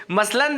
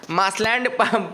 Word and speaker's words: मसलंद: मासलैंड पढ़ सकते हो आप लोग स्पेलिंग के लिए, लेकिन मसलंद ही पढ़ो।